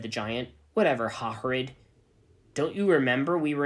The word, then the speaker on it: Hagrid: Hairgrid? Said Ebony. It's me, don't you remember? It's pronounced Hagrid, said the giant. Whatever, Hagrid.